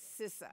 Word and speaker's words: CISA: you're gonna have to tell us how to pronounce the app it is cisa okay because there's been different versions going around